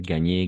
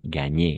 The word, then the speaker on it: gagné: Siempre va a ser gagné, gagné, gagné, gagné. Ahí con todo el derecho, con toda la seguridad, pues vamos a pronunciar gagné, la E al final también porque está acentuada, si nos damos cuenta, ¿no?